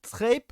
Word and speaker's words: Trayp: C'est Trape, Tripe, Tripe. voilà, ça se lit à l'américaine, tripe, ce que tu veux, Tripe. tu le prononces à peu près comme tu veux, mais c'est pas tripe comme j'entends Ah, des fois. du coup, c'est pas comme crêpe, mais avec un T, quoi.